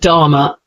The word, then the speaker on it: Dharma: sound before the consonant how does it work in the word Dharma the sound comes quickly before the M sound you say it like Dharma Norma um examples g